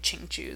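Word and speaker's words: Xiqu: a pretty foreign word, X-I-Q-U, just for reference, you say Qing Chu, that's how you say it.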